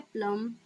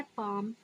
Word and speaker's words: palm: ए है प्लम, बी है पालम, सी है पाम, डी है पम्प। सो फ्रेंड्स, PALM में एल साइलेंट रहता है, इसीलिए सही उच्चारण हमारा पाम हो जाएगा।